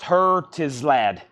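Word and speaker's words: Herzeleid: It's pronounced Hertislad. Hertislad. Hertislad.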